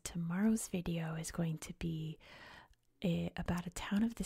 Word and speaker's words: Beja: reached its name and they're both called Bea both pronounced exactly the same so we'll go over